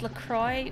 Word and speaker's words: LaCroix: It's officially pronounced LaCroix.